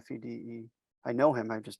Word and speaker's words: Fede: Fede.